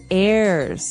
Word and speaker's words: heirs: pod and to his heirs this is our next word what is an air now if you notice the H is silent there so his heirs and